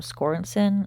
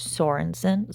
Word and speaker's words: Sorenson: I'm in editing now I read it as um scoren it's really tiny on my screen CU it's my phone but I'm reading it again and it's Sorenson so I said it wrong but it's Sorenson anyway according to the hotline